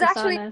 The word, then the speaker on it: Sousanis: so then, Kay, I'm sure you've read Nick Susanis, is that how you pronounce his name? Yeah. He's Susanis.